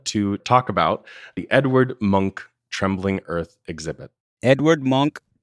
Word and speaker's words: Munch: over to Williamstown to talk about the Edward Munch Trembling Earth exhibit. Edward Munch Trembling Earth. Munch, yeah, it's spelled like Munch, but it's Munch in his Norwegian pronunciation.